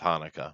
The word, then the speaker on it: Chanukah: chanukah that's a holiday that's usually pronounced hanukkah but i get you uh it's spelled tanuka buddy learn english that is true and then